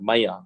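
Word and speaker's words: Maillard: from mylar myers theorem maya that pronunciation is maya past these are both french people so the name pronunciation is weird anyway so pascal maya's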